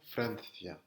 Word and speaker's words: Francia: Francia, d'accord? En... C'est comme un TH anglais, c'est th, pas ce, th, Francia, en mettant la langue entre les dents.